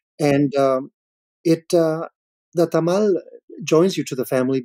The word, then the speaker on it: tamal: so I think of a Tamal which many of us in English pronounce tamale but a tamale is